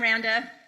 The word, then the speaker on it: Randa: I'm Randa. Rhymes with Panda.